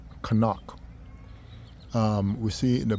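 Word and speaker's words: חנוך: We see that word in the word um in the English they say Enoch but its name is pronounced Kanak.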